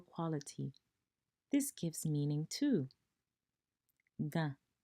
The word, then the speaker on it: Gã: Ga is pronounced like ga. Low tone. However, it's nasal. This completely changes the meaning of the word.